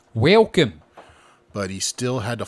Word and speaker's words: Welkom: Welcome. That's spelled Welkom. Welcome.